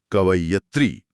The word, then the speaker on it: कवयित्री: बिल्कुल सही शब्द है कवयित्री। क, व, य पर छोटी ई की मात्रा और त्री पर बड़ी ई की मात्रा।